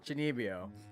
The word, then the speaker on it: Chunibyo: Chunibyo.